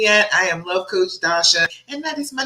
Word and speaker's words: Dasha: of saying it but it's just like tasha but with the d if you haven't met me yet i am love coach dasha and that is my